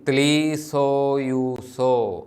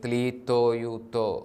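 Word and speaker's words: ܬܠܝܬܝܘܬܐ: ത്ലീത്തോയൂസോ അല്ലെങ്കിൽ ത്ലീസോയൂസോ അല്ലെങ്കിൽ ത്ലീത്തോയൂത്തോ, അല്ലെങ്കിൽ പൊതുവെ ത്ലീസോയൂസോ എന്നാണ്. ഈസ്റ്റ് സിറിയക്കിൻ്റെ സ്വാധീനം കൊണ്ട് നമ്മൾ താവ് കൂടുതലും സ് ആയിട്ടാണ് ഉച്ചരിക്കുന്നത്.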